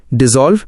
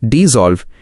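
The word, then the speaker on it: dissolve: डिसॉल्व, डिसॉल्व, इसमें ज़ की आवाज आएगी।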